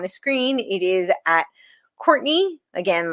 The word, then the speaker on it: Courtenay: It is at Courtney again like Cortine. It is pronounced Courtney but I spell it Cortine.